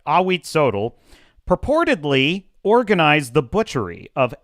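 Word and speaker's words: Ahuitzotl: I I wrote down the pronunciation. Awit. That's right. Awit Sodel purportedly organized the butchery of 80,400 prisoners during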